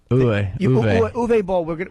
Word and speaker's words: Uwe Boll: How do you say, Yui or Uwe? Uwe Boll.